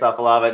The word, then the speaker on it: Afalava: fourstar offensive lineman Darius off of lava now Darius am I pronouncing the last name right am I am I butchering it yes yo yes sir you saying it perfect all right all right